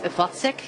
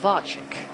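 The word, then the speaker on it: Vacek: I was uh corrected that there's no uh accent on the C. So, it's Vatzek instead of Vachik.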